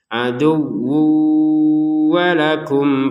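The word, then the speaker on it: عدو ولكم: Perhatikan tanwin bertemu wawu, kita masukin tanwinnya ke huruf wawu yang awalnya tertulisnya aduwun ya, wun. Nah sekarang dimasukin ke wawu terbacanya aduwu. Kemudian didengungkan aduwu, dengung dulu baru ke wa ya, baru ke harokatnya wawu yang kedua.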